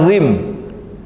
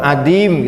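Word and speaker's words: عظيم: Kata azim, kalau kita bahasanya adim, Adam ya. Azim itu artinya agung. Tapi kalau adim, kita bacanya adim, itu artinya tidak ada. Dan banyak lain lah dalam ayat Al-Quran itu yang apabila kita membaca salah huruf itu bisa salah arti.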